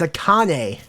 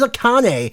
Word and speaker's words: Akane: do you pronounce this how to pronounce it's a Kane okay so it is a Kane akane will be taking on